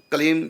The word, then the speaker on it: क्लीं: देखो, कलीम का उच्चारण कलीम, बस कलीम, लास्ट में माँ हलंत, मतलब होठ बंद ही रहे, खोले ना, कलीम। और यदि हम बोल दिया कलीम, ये अशुद्ध हो गया, क्योंकि हमने होठ खोल दिए।